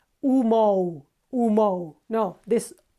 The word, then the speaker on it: humo: Okay, another one is humo, smoke. Okay, again, H is not pronounced. All we say is humo. And be careful, we don't say, or the Spanish don't say, or we don't say when we speak Spanish, and you shouldn't either, humo, humo.